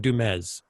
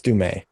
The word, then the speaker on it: Du Mez: And we talked about her a few weeks ago, and we said her name wrong the entire time. Yes. Yes, we said Du Mez. And it's Du Mez.